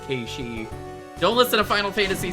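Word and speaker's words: Cait Sith: Hate hate Sith or as it as it's really called Ki.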